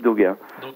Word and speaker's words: Dauga: non c'est mon nom doga après on retrouve tout de bijoux svp mais c'est daga donc alors doga doga je vais quand même lesapp pour justement aider les internautes alors ça s'écrit dau g c'est bien ça c'est ça